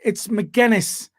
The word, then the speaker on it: McGuinness: All right, it's McGuinness because you keep pronouncing it a different way, and it's just annoying people and me.